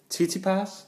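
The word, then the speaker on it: Tsitsipas: matchup wasn't gosh I was so worried about mispronouncing this name we had to do some research I'm gonna say it stefanos TT pass yeah that's it softest softest he beat Dennis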